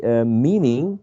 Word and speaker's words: meaning: And 60 meaning has 2 syllables, and the first syllable is the most prominent one.